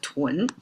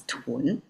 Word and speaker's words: 囤: This character inside it's pronounced as tw and with the box is still pronounced as tw.